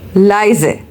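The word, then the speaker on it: leise: Next one इज़ लीज़ sorry it's नॉट लीज़ इट्स बिट a confusing but you should know that if we have spelling of एल इ आई। सो इट्स अ लाइजे।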